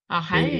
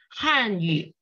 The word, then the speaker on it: 汉语: You say Hanyu. Okay. Hanyu is not correct. Hanyu is Korean. 汉语汉语语 press your tongue down 不是语 Yes, you need to press your tongue down.